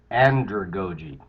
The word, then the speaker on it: andragogy: Um, One of the things that really resonates there is this notion of andragogy. I have to say it like pedagogy, andragogy.